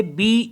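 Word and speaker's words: beau: पढ़ेंगे ओ जैसे बी ई ए यू तो ये समझ लेंगे कि यहां पे ई साइलेंट होता है तो बचा ए यू तो ए यू को ओ पढ़ते ही ऑलरेडी मैंने बता दिया है तो इसको भी पढ़ेंगे बो बी ई ए यू बो बो मीस होता है ब्यूटीफुल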